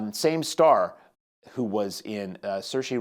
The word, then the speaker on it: Saoirse: Same star who was in Saoirse Ronan, I believe, is how you pronounce her first name.